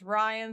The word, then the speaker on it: Rian: Rian is short for Adrian. Okay. It's pronounced Ryan Swigler.